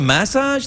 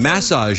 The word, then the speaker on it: massage: Some kind of massage thing or Pilates or something? Massage. You put the accent on the first syllable. We say, over here, we say massage, but you say massage.